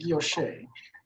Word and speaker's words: guilloche: Yeah, so the texture is called guilloche. Guilloche. Yeah. Okay, I'll go for that. That's how I pronounce it. Yeah, guilloche, Larry, with the G.